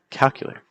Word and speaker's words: calculator: Take a minute to ask yourself, how would you say these words? If you would say these as elevator or calculator or appetizer, that's not necessarily the most natural pronunciation for these compared to elevator. See the stress on L, elevator, or calculator. See the stress on calculator, or appetizer, appetizer.